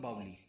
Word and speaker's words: बावड़ी: नहीं क्या है, राजस्थान के साथ बावड़ी बोला जाता है और ये यूपी और ये सब बावली।